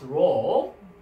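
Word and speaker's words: ρ: And then the name of the alphabet is Rho. And then in English pronunciation is R sound, R. Like a Romeo, R.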